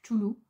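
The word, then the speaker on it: Cthulhu: Et ici, vous avez, désolé pour ma prononciation mais c'est choulou.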